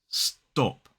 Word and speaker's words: stop: When many native speakers say this word, they actually pronounce that t, that unaspirated t, as more like a d sound. Listen. Stop. Stop. Stop. It sounds more like a dop than top.